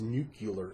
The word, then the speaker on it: nuclear: waste nucular waste actually it's pronounced nucular in low life so many people pronounce it that way anyway that's now the